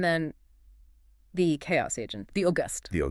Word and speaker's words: Auguste: And then the chaos agent, the August. The August. Yes. Pronounced August.